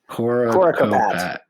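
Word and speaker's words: Coricopat: Coracopat.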